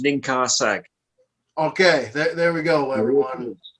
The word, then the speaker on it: Ninkharsag: Pronounced Ninkharsag.